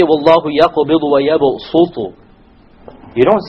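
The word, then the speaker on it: يبصط: It is to tell you that it is preferred to pronounce it with a sin. So you don't say Wallahu yaqbidu wa yabsutu.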